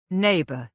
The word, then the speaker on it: neighbor: Neighbor, he said. The gh is silent.